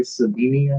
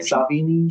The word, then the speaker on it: Sevigny: Chloe Savini, I think. Sevigny? How do you say her name? Savini.